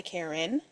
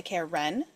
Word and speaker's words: Karen: the other day, but when you say Karen, you say Karen. You don't say Karen. So therefore, my name is spelled correctly and everybody else is wrong.